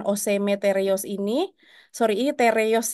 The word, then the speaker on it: TR-YÖS: teros ini sori ini T reos Ya ini kalau bahasa Turki t bacanya t r itu bacanya re makanya Dar Tadi aku bilang t reos ya jadi ujian OC